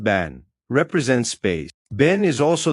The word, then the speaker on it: Ben: To the Maya, Ben pronounced ban represents space.